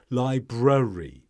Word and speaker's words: library: and say library no Library you need to get the first R in of course this is